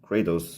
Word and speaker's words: Kratos: God of War so here's katos or katos Kratos is actually in the the name the pronunciation game but I think katos um sounds meaner he's made using the old